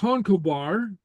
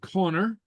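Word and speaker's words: Conchobar: fall in love but King kobar okay uh sometimes pronounced Connor hears of dear's beauty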